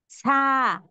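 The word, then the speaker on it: ث: তা- সা, আরেকবার বলেন। সা। জি, তাহলে কোন জায়গা থেকে উচ্চারণ হচ্ছে এটা? জিহ্বার আগার সামনের উপরের দুই দাঁতের আগা থেকে নরম ভাবে।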